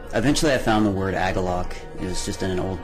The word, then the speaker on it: Agalloch: smoke but um eventually I found the word agalloc it was just an old dictionary um and